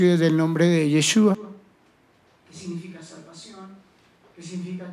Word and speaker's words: Yeshua: Jesús en hebreo significa, se pronuncia Yeshua, que significa salvación.